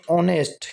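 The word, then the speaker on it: honest: तो यहां पर जो ये एच साइलेंट है तो इसको हम बोलेंगे ऑनेस्ट। क्या बोलेंगे इसको? ऑनेस्ट।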